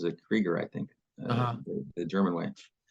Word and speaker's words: Krueger: is spelled like Alan Krueger's name but she pronounced a creger I think the German Way and um she's